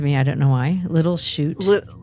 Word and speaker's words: Little Chute: I don't know why little shoots it's spelled s-h-u-t c-h-u-t-e Oh e okay little shoot like it's a shoot not s-h-o-o-t that would be just